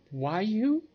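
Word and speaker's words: Roaille: name is why you that's r-o-a-i-l-l-e but it's pronounced why you all right together with robon Helene lent as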